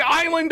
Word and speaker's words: island: not gonna change it it's like Island all over again why is there an S there nobody goddamn knows like the British spelling it